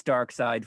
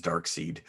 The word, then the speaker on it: Darkseid: know what's funny here you say his name because for years i always read it as dark seed i did as well